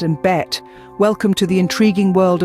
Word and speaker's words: Bett: bad means bath and bet means bed the only difference between these two words is the vowel sound the former has a short a sound while the latter has a short e sound another example would be